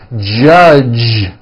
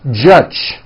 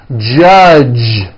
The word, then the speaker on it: judge: the word judge as judge turning that last sound into an unvoiced CH judge and that is not right the J sound in American English is always voiced judge like that for you